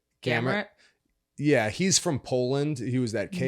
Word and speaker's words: Gamrot: How do you pronounce his name? Gamrot.